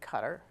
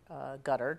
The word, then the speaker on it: Qatar: one was launched in qatar gutter depending on how you pronounce it in the city of